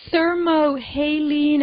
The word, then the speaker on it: thermohaline: So the thermohaline, am I saying it right, yes.